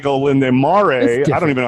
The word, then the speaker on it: Olindo Mare: So a guy like Olinde Mare, I don't even know how to say his freaking name. Yeah, I think you nailed it. Olindo Mare.